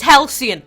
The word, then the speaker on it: Halcyon: to it before I came on here it's Halcyon alright alright that's what Google taught me I